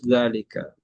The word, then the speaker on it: ذلك: Dzalika is pronounced dza panjang ya, tapi dia tanpa alif. Dzalika.